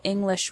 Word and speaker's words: English: You probably already know that individual English words have stress. For example, the word English has the stress on the first syllable, ing.